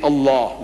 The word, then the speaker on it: Allah: You must pronounce it the way I ask you to pronounce you can spell it but say Allah not you know what in